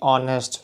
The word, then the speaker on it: honest: hour and honest here an honest h is silent you say honest so that's why sound